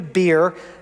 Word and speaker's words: Beer: And from there they continued to Beer. And yes, it's pronounced beer.